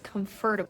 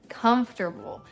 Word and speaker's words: comfortable: Mistake number 11 is comfortable. That's not how you say it. It's comfortable.